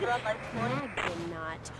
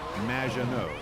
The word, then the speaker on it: Maginot: Magdinot, welcome to the show. Thanks, Amy. However, you have mispronounced my name. It's Madge, which rhymes with badge, as in duh, and no as in more than you. Maginot.